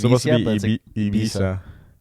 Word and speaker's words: Ibiza: Yeah, it's supposed to be Ibiza. It's spelled hella weird.